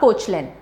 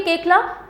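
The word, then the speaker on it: Koechlin: famous actor कालकी केकला इट is pronounced as केकला नॉट कोचलिन right so अब ये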